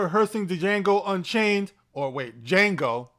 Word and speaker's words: Django: django unchained or wait django the d is silent leo leo dicaprio said